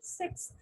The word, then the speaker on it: six: a sound should be six six six okay s together six six six so it's not a long sound it's a short sun so you're in specific